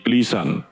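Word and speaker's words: ἐκκλησίαν: Kata eklesian ketika diucapkan akan berbunyi klisan.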